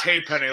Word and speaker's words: Hapenny: It's Hapenny. Like, hey, there's a penny.